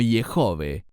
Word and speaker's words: Yehove: No será hasta el tiempo de Moisés que Dios divulgará su nombre formal y personal, Yud-Hei Vav-Hei, que yo pronuncio como Yehove, otros pronuncian como Yahweh o Jehová.